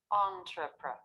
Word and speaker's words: entrepreneur: Notice I'm keeping these syllables flatter in pitch, lower in pitch. Entrepreneur, compared with the stressed syllable. Entrepreneur. Entrepreneur. Entrepreneur. Entrepreneur. Okay. Entrepreneur. The first 3, entrepreneur. The last one. Or you can say new, right? As you said, but it's more common to say entrepreneur.